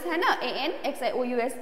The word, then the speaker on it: anxious: A-N-X-I-O-U-S. It's anxious. The spelling, the pronunciation of this is anxious.